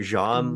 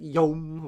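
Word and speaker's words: Jaume: How do you pronounce this woman's name? Jean Collet Sarah? We pronounce it Yom. There's no way that's true. Yom?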